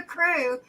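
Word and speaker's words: krewe: a member of the crew which is spelled k r w e w right or e-w-e k-r-e-w-e yeah like mardi gras crew then then then there's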